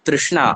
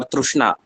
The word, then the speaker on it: तृष्णा: One point that I would like to emphasize here is the word Trishna or Trushna. Both are correct.